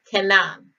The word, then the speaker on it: Kanan: strong's h 3667 and it is pronounced cannon it is written which